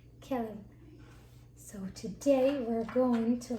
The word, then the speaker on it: כלב: Kelev. Kelev.